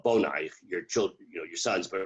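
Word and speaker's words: בניך: So when we say don't pronounce it banaich ela bonaich, there's a certain reasonableness to that it's written without vowels in order to convey multiple meanings.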